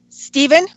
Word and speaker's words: Stephen: is it Stefan or Stephen how do you pronounce it Stephen yes correct okay great so anyway so my